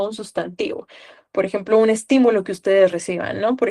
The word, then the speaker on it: estímulo: Por ejemplo, estímulo, ¿dónde está la tilde? En ti, ¿verdad?